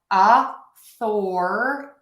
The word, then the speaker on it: authority: Let's think of it as author-a-d. Author-a-d. So the is lower and quicker. Thor is going to be up. Author, author, author. The Thor is the stress syllable, louder, longer, higher.